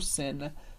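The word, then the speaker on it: Seine: final de palavras e la senen a gente fala sen esse som bem aberto porque e i como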